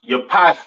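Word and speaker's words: יפת: Pronounced Yapath in Hebrew.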